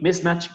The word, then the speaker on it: mismatch: falta una coma ahí, mismatch, que es otra palabra. Siempre la sílaba tónica es la primera.